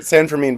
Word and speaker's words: San Fermin: Yeah, I yeah, didn't know how to pronounce it. Whether there was a Fermin or a Fermin. yeah, Okay. yeah, yeah. San Fermin, but it's anything you want.